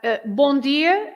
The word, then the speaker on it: bom dia: Hola, bon dia, meu amigo. Maybe. But bom dia, meu amigo.